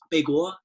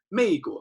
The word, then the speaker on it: 美国: a lot of you, they will say 美国, and you can always tell that they're Americans because they can never really pronounce it.